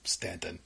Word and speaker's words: Staunton: the past weekend, and it's spelled Staunton. Yes, as opposed to Staunton. Yes, it is Stanton.